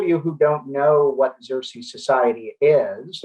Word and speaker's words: Xerces: For those of you who don't know what Xerces Society is, it is pronounced the Xerces Society, and we are named